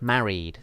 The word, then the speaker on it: married: like this that's correct but married just two syllables married similarly with carried and cities and studies okay so then um